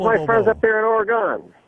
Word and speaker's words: Oregon: How's my friends up there in Oregon? You got to say it right, though. It's Oregon.